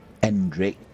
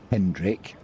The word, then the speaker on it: Endrick: It is Endrick, not Hendrick.